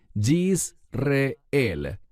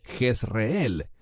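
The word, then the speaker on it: Jezreel: Y este es un término muy importante, Jisel. En español decimos Jesel. ¿Por qué enfatizo su pronunciación en hebreo?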